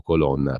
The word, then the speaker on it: Colonna: ministro degli esteri francese Colonna, o Colonna per dirla all'italiana.